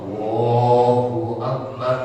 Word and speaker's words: Allahu akbar: dua langkah yang keenam tidak memanjakan hamzahnya Nah betul jalan-jalan seperti apa eee Allahu akbar Nah itu memanjangkan Hamzah untuk eee enggak boleh begitu kemudian juga yang